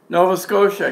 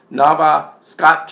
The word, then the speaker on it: Nova Scotia: of our provinces too like Nova Scotia comes up as Nava Scotch ah they finally figured